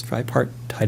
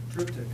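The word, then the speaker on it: triptych: He painted himself this tripart tide if I'm pronouncing it right. Uh I know I'm not. He he pronounced it differently. Sorry, somebody said that. What is it? Tryic.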